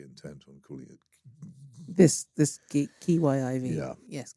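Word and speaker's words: Kyiv: were very, very intent on calling it this Kiyiv. Yeah. Yes, Kiev. I don't know how you pronounce it.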